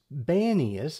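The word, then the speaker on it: Banias: today the name is banius as with a b as opposed to a p and the reason for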